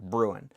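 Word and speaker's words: Bruen: get this backwards whether it's brewin or brewer um brewin which is the uh 2A argument 2A only or brewer whatever that case somebody tell me brewin or brewer because I'm going to keep saying it wrong. Breuan, thank you.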